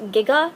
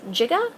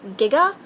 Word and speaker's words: giga: You see, when Bob Gale and producer Robert Zemeckis were doing research for the script, they attended a conference wherein a physicist pronounced Giga as Giga, leading to the now quotable 1.21 gigawatts.